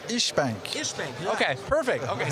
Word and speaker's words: İşbank: Is it Ish or IS Bank? It's İşbank.